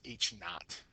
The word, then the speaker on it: naught: class so that means h naught is how you say it not you know t not but n-a-u-g-h-t not so each not means